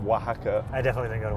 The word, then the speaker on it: Oaxaca: We spell it W-A-H-A-C-A. Oh Literally my God. like Oaxaca.